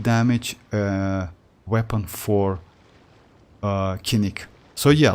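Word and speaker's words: Kinich: he real like uh they they pronounce as kinik and uh uh Catalyst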